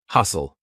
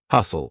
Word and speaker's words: hustle: Hustle, S-T-L-E. Lots of times words with S-T-L-E will have a silent T. Hustle, or F-T-E-N, silent T.